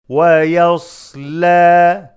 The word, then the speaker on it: وَيَصْلَى: Prolong the alif of يَصْلَى, a natural mad, two harakat.